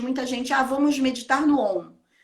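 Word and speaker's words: ॐ: No sânscrito, elas aglutinam e formam o som de O. Então, é Om.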